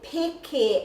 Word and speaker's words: peke: means I am jumping, if your pronunciation is a little bit off and you're not saying your peke, so the vowel sounds a, e, I, or u, so this is an e, Kei Te Peke Ahau, then when you get